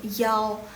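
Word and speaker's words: 幺: Jadi kalau untuk angka 1 itu yang untuk baca yao jadi gitu yao. Nah 1 selain baca i bacanya juga yao. Itu cuman untuk di Dalu aja, yang untuk Cina daratan. Untuk Taiwan jangan pernah kalian pakai yao gitu.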